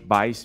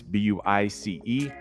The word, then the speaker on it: Buice: So that's Buice, B-U-I-C-E. It's spelled like juice with a B in front.